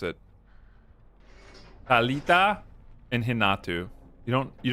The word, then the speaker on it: Thalita: cuz that's how you pronounce it. Talita and Hinatu. You don't you don't say Thalita and his name is not Renato, it's Hinatu.